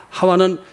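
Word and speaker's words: חוה: 이름을 붙였다 이렇게 볼 수가 있습니다 하와 어 하와는 히브리 식이고 이 브라우 들지 이브 이브 2분은 영어식 발음 입니다 하와가 히브리 10 바라네요 하하와 가십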